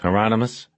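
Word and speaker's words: Hieronymus: Heronmous rhymes with anonymous."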